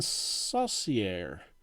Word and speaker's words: Saucier: of fame dave revering kevin saucier which i believe is how his name is pronounced at least that's what i believe the philly's announcers were pronouncing his name this was after he